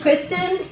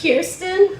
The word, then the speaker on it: Kirsten: dog lying about animals my name is kristen it's kirsten wow that's a different pronunciation and when i said